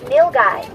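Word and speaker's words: nilgai: sock they are called nil guy analou n i l g a i the word is pronounced nil guy and they're from India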